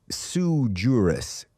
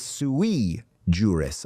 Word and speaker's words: sui juris: It's not sui juris, it's sui juris, a Latin phrase meaning of one's own right.